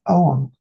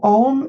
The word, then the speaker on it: Ogham: EUR Vision fans alike so what exactly is Owen this is an ancient Irish alphabet so om is spelled OG g h m in Modern Irish